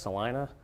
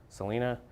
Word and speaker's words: Celina: somebody in north celina that's pronounced celina celina pea-sized hail and far